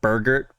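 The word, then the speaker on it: Berger: So, apparently I've been saying Burger wrong the entire time. And it's Well, I' I've said Burgger, but it's Burger. But for one last time,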